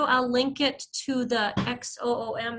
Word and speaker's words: Xoom: So as soon as they do, I'll link it to the XOOM. Is that pronounced Zoom too? Yeah, I think so. I think it's pronounced Zoom.